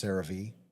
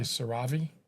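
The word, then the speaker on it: CeraVe: I for beginners um cereave is usually what I'll recommend. They pronounce caravee. I think it can go either way. I used to say Sarah but then I got corrected. Can I say Saravi?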